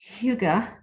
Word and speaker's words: hygge: it's a norwegian word right amanda and it's pronounced hyuga we're going with hygge to just make it